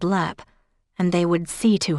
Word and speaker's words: Leap: It was no more than a minute later that the bus driver called out, "Leap." Which he pronounced Leap as in leper.